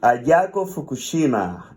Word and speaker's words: Ayako Fukushima: And Ayako Fukushima, that's the right way to pronounce it?